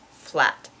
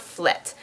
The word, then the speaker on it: flat: So definitely not flet. What flet is Dutch English. That's the way that a Dutch speaker pronounces the English word flat, as flet.